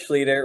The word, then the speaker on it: Schlueter: Yeah, proper pronunciation is Seph Schlueter. Looks like Schlueter, and many people think it's Schlueter. I've heard it butchered really badly, like Schlueter, or just all sorts of crazy things. But it is Schlueter. Rhymes with eater, leader, meter, feeder, all those fun things.